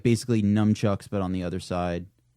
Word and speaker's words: nunchucks: it's spelled as if it's pronounced like nunchuckus, right? Yeah, it's nunchucks.